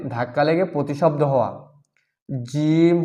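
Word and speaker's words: جيم: ধাক্কা লেগে প্রতিশব্দ হওয়া জিম হরফটি পাতলা করিয়া চার আলিফ টানিয়া পড়িতে হয় জিম হরফটি পাতলা করিয়া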